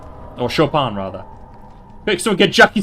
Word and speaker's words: Chopin: awarded with spectacular pieces by both Offenbach and Chopin. Or Chopin, rather. Quick, someone get Jackie Stone here to give Blue some pronunciation lessons.